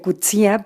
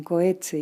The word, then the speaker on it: Coetzee: que es john coetzee que decíamos que se pronuncia cuchilla pero se llama lo conocemos aquí como john coetzee y que creo que